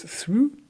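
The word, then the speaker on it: Theroux: that I listen to regularly is the Louis through podcast c um Lou through is a British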